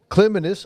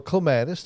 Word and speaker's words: clematis: Now, what clematis or clematis, however you prefer to pronounce it, I think both are recognized as being correct, is that they do like a sunny location, but they like cool feet.